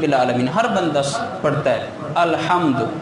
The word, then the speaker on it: الحمد: اب دین کے علم کو دیکھا جائے، الحمدللہ رب العالمین ہر بندہ پڑھتا ہے الحمد، یہ ہا حلوے والی ہے، اور اکثر لوگ پڑھتے ہیں الحمدللہ ہا لاہور والی، الحمدللہ۔ اب اس میں فرق